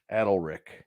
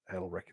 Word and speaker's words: Adalric: Like a saddle without an S. Yes. Adalric. Gotcha. Adalric.